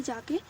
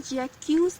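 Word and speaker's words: Jaques: अगर आपको जो है प्रोनाउंसिएशन समझ में नहीं आती तो आप गूगल पे जाके सर्च कर सकते हैं। इसको हम जैक्यूज नहीं पढ़ेंगे, इसको हम जैक पढ़ेंगे।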